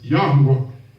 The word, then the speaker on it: Yahuwah: So you find out the YH, the first three letters is Yah. So then you got to get the latter part of that, which is WH. So it's Yahuwah. Come on.